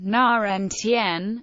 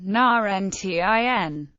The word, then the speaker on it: nineteen: When carefully enunciated, they differ in which syllable I stressed. 19, na-ntn, versus 90, na-nti.